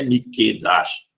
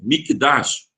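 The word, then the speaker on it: מקדש: Tá, mas a palavra não é Mikedash, é Mikdash. Então, quando a gente diz Beit HaMikdash, e não Mikedash com cadeas dentro.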